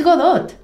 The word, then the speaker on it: Godot: it's up there with how to pronounce Godot it's Godot Godot I also say a